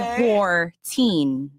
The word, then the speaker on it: Hortene: Okay, guys, it's not whore as in whore. Yeah, yeah. Okay. You pronounce it Hortine. Okay. Hortine. Sure like Ovaltine. Hortine. Like Ovaltine.